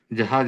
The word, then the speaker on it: जह: इसमें अंतिम ज है वो झंडे वाला है, जहाज वाला नहीं है। साध्वस द्य ह्याम जह, तो इसका उच्चारण ज से थोड़ा हटकर है, जह ऐसे है।